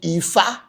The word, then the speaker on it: Ifa: Yorubas call it Ifa. So don't tell me that it's only pronounced Fa.